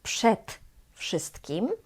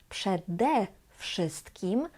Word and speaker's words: przede wszystkim: Tutaj nie jest przed wszystkim, ale przede wszystkim, żeby było łatwiej to wymówić. Przed wszystkim mogłoby być trochę trudno. Dlatego mówimy przede wszystkim i też nie z wszystkim, ale z wszystkim.